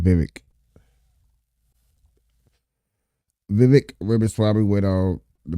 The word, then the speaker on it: Vivek: Yeah, Vivek, I've I finally can say his name correctly now because he said it's like cake. So you said Vivek.